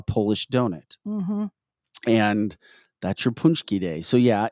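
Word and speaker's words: pączki: pronounces it very well because it's spelled p-a-c-z-k-i punchki oh and Michelle says her mother made him for her daddy yeah yeah so that's punchki that's what they were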